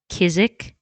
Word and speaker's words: Kizik: But I am in love right now with my I think it's pronounced Kizik tennis shoes.